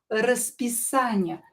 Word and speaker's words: расписание: So the stress actually located on that a. РАСписание, not here.